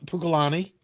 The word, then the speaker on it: Pukalani: the name ma maa tell me if I'm pronouncing this right puka Pukalani yeah and then Hau are those are all